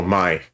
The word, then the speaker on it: Mai: Oh, Mai. Oh, am I saying it wrong? Oh, Mai. It's like May.